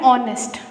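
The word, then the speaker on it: honest: हम लोग एच को तो देख ही नहीं रहे हैं, ये भूल जाओ, यहाँ पे एच है, हम लोग पढ़ रहे हैं ऑनेस्ट.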